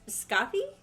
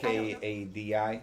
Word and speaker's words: Skadi: I guess Scotty? Not beam me up, Scotty. No. Maybe it's Skadi. Skadi. Yes.